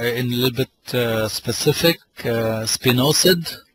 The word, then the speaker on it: Spinosad: Spinosad, it's pronounced as spinosad, is a wonderful organic product on thrips, whiteflies, leaf miners, a lot of caterpillars.